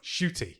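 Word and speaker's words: Ncuti: Shooty. Yes, you don't pronounce the N, and you randomly add a H.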